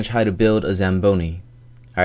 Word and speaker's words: Zamboni: to get Google to say it out loud pronunciation anation okay and let's hear it Zamboni Zamboni I'm St stupid all right so we're